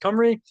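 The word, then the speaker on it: Cymry: This is why the Welsh call themselves the Kimry, pronounced Camry to this day.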